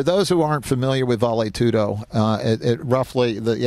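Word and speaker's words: vale tudo: began and it's pronounced valet tudo Portuguese and Spanish being similar in this respect and I speak Spanish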